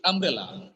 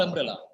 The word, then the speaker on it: umbrella: word umbrella sir umbrella very good it's umbrella not umbrella because one more important thing is there is no doubling of sounds in English th the word has double consonant together the sound is only for single consonant it's not umbrella is